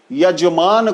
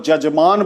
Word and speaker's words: यजमान: इसी तरह य को ज बोलना, यजमान को जजमान बोलना, साया को साजा बोलना।